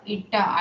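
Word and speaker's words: eta: This is pronounced as ईटा, ITA।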